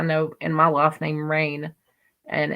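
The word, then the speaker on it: Rayne: have trouble with that and think that that's rainy but it's still rain so it's still pronounced just like r a i n just r a y n e so I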